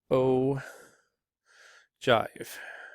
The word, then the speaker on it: ogive: an ogive okay yeah that's actually pronounced oh jive spelled ogive so this is a